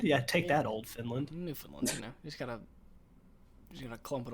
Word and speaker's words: Newfoundland: I lived up in Canada for a while, and there was a place called Newfoundland, but they never called it that. It was Newfoundland.